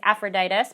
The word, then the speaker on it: Epaphroditus: you can remember that the beginning is pronounced like the beginning sound of ephesians and that the rest of it is similar to aphrodite's it's aphroditus but similar to aphrodite's